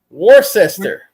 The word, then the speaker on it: Worcester: Worcester.